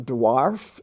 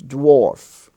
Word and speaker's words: dwarf: also dw dwarf dwarf it's not dwarf it's dwarf now in lesson 86